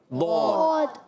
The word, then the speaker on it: ضاد: ضاد کو دال نہیں پڑھنا، ڈال نہیں پڑھنا، زواد نہیں پڑھنا، زوئے نہیں پڑھنا.